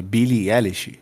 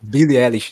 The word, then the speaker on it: Billie Eilish: comentou lá o episódio daquela artista Como se pronuncia o nome dela Cacique é Billie eilish Billie eilish sentimento Será que eu tenho tem problema sair